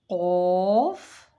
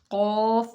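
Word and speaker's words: قاف: It is qaf and kaf. Qaf and kaf. Qaf and kaf are both pronounced from the root of the tongue.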